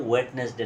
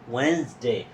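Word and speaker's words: Wednesday: আঘাত করা যে আসলে এটা কিন্তু ওয়েটনেস ডে না এটা হবে ওয়েনসডে প্রিয় শিক্ষার্থীরা আজকে আমরা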